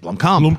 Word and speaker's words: Blomkamp: Blomkamp.